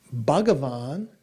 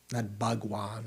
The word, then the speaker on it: Bhagavan: So sometimes Bhagwan is just translated as Lord or, yeah, something like that. Bhagavan is actually how it is in Sanskrit, 3 syllables, not Bhagwan or Bhagawan, but Bhagavan, is one